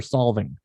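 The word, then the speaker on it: Solvang: Is it Salvang or Salvang? How do you pronounce that place?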